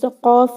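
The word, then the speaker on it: قاف: also there should be you should use your last part of the tongue to pronounce this letter qaf, not the throat.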